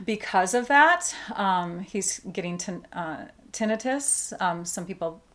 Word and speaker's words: tinnitus: He's getting tinnitus. Some people pronounce it tinnitus.